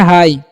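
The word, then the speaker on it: high: तो यहां पर आई जी एच जो है ना इसको उच्चारण नहीं करना है जी एच का। ठीक है? तो इसे हम लोग पढ़ते हैं हाई।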